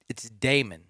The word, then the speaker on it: Demon: Dude, I'm not going to call him Demon because I found out it's Damon. It's Damon. Damon. Yeah. Oh, wait, that's right. It's spelled demon. Well, no. No. See, I have it written down. Replace the E with the A.